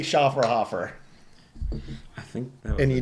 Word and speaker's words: Schofferhofer: think you're spot on it is literally schaer hoofer I think that and